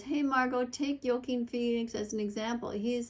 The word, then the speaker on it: Joaquin: Or Joaquin, I think is how you pronounce it.